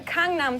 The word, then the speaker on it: Gangnam: How do I-- "Congnam" Style is how I hear that you're supposed--. "Cong-nam" Style. That's how you're supposed to pronounce it. Like King Kong and noms, like food.